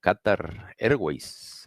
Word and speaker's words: Qatar Airways: Hay gente que quiere venir a El Salvador, al aeropuerto de la Unión en Qatar Airways, así se pronuncia, ¿verdad?